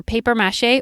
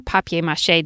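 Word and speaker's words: papier-mâché: a great base for paper mache or papier-mache depending how you say it there are so many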